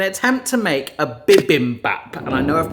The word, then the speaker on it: bibimbap: will hopefully help make this amazing Korean dish biim Bop okay that's how I want to pronounce it but apparently it's pronounced B Bim Bop okay I'm going to get that wrong throughout